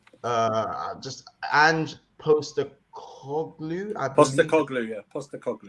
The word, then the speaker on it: Postecoglou: Postecoglou. Yeah, that's how you say his name.